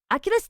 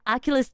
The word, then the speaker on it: Achilles: Aculus tendon. Aulus tendon. That's the right English, right? Aculus tendon. Are we pronouncing that right? Achilles tendon. Yeah.